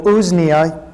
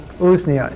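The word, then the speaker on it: Usnea: stuff too let me not forget um so ooznia shall i spell that for you um u-s-n-e-a that is a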